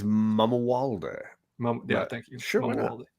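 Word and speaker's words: Mamuwalde: Because his name is Prince Malamule or whatever, however we pronounce it. I think it's Mamawalde.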